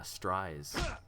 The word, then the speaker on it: Stries: Oh, and this person taught us how to pronounce the name. It rhymes with fries. Yeah, Stries.